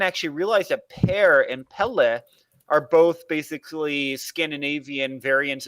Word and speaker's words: Pelle: I'm guessing it's a pronunciation. It's their cat Pelle, P-E-L-L-E.